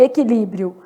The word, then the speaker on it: equilíbrio: Na palavra e, que, não falo qui, né? Então, e, que, li, brio. Olha o que aconteceu em equilíbrio. Eu tenho um dígrafo aqui, né? E tenho um ditongo aqui no finalzinho.